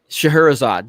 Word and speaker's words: Scheherazade: e h e ra CA d e Scheherazade Scheherazade that is how you say it yeah that's